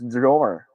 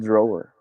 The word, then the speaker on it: drawer: it didn't die actually in the philippines style we filipinos we tend to pronounce every letter we see in a word so it's okay but